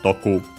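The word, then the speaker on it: 毒: Accented on the last Mora on its own, Doku.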